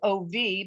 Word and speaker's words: of: short e we have words like of which sounds like ov but is actually o-f we have the word